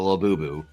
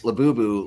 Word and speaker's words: Labubu: and I showed the Labubu, and everybody types Labubu like it's spelled like Labubu, right, or something like that. Right. But I spell it Labooboo. You know, like boo boo.